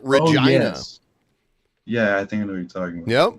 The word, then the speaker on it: Regina: when you read it it looks like Regina but Canadians pronounce it Regina yeah I think I